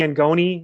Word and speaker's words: Angone: social media at angoni uh a-n-g-o-n-e it's very italian uh my middle name's anthony so i could be angoni is actually the pronunciation you know of this